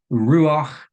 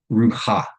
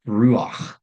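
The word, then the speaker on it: רוח: Uh, and what that indicates is that that vowel is actually pronounced before the final consonant, which is why we pronounce this as ruach and not rucha. It's ruach.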